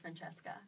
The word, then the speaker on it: Francesca: It's actually pronounced Francesca.